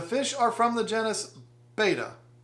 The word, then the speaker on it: Betta: are from the genes-- betta pronounce it like better would be better less false and closer to the real thing all the criticism for